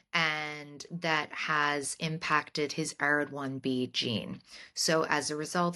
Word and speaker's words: ARID1B: to, do we pronounce it ARID1B? I've heard Yeah. ARID1B.